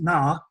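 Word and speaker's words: נָא: put in here called it's pronounced na and it means please so when he says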